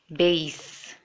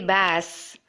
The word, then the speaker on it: bass: to the next word this should be pronounced as base it shouldn't be bass but it should be base just like how you would pronounce the word ba se the should be pronounced the same way base base refers to